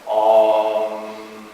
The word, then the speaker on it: Om: And when you hear that, Om. And it's really 3 syllables. And there's a lower ah. There it is. It's a really nice low ah. And then there's a middle ooh, which will bring the energy up into our chest.